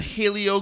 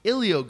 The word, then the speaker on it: Helio: but do you understand that Helio Gracie believed in this Helio Gracie said something